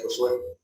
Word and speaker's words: Josué: Es decir, aunque mi nombre no llevara acento, se pronunciaría Josué, ¿no?